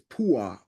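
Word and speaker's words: Puah: that that name is Pua PA how is it's p o o ah is how it's pronounced or p w a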